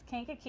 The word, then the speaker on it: Kankakee: So, well, first of all, we know you are from, I hope I say it right, Kankakee. Yes, Kankakee. You said right.